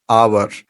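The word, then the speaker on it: hour: कहते हैं for example the word आवर हम कहते हैं यहां पे एक लेटर जो है ना एच ये साइलेंट है तो एच को हम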